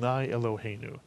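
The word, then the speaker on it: Eloheinu: all blessing water life Irving Our God except it's not Irving it's elu and those are the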